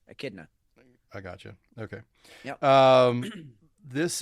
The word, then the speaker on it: Echidna: Okay, the H is silent. That's with it. Well, it's a K. It's a K sound. Echidna.